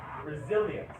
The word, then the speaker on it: resilience: more about grams throughout English one more time resilience what does resilience mean resilience means your ability